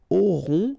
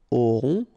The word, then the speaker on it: auront: Okay, then ils auront, final T not pronounced, O-N together, on, auront, okay, and then the link between the two, ils auront, elles auront.